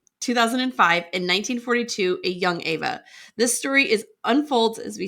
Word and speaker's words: Eva: It's written in the book as Eva, pronounced Ava in the audiobook.